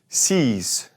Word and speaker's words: six: Now, 6 looks like our number 6, but we're not going to say that X. It's going to actually be more like a Z in this context. Six, six.